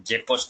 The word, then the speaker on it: GECOS: इस तरह उसका ये उसका स्पेलिंग है जेकोस नेम, GECOS, जेकोस नेम इसको बोलते हैं।